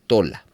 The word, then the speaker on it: Tola: o la nbi etcétera el nombre tola aparece con acento en la a Entonces se pronunciaría tol y en las versiones tradicionales reina y Valera las Américas etcétera no aparece con acento en la a de tal manera que se pronuncia tola ahí entonces este es